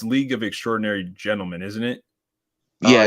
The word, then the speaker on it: League of Extraordinary Gentlemen: I actually might have mispronounced. It's League of Extraordinary Gentlemen, isn't it? Yeah, it's yes. Legal Extraordinary Yeah.